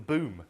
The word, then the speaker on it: BUM: And a whole new thing I learned about recently, which is we call them the BOOM, broadcast, unaddressed unicast, and multicast, which is spelled B-U-M.